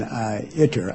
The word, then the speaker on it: ITER: Sadoff, going back to our pronunciation, we may have to split the difference between eater and eider, because we checked the dictionary and the correct pronunciation is in between, as in iter, I-T.